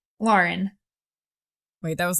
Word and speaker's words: Lauren: Now, is it pronounced Lauren or Lauren? Lauren.